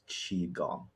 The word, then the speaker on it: qigong: pinion but sometimes you'll see it written as chiong sometimes you'll see it written as Kong or Chong so yeah but the most pronunciation is chiong chiong okay yeah I uh I actually speak